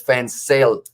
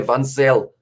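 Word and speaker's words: Van Zyl: It is Fansel. Zeal. So it is actually pronounced with a Z.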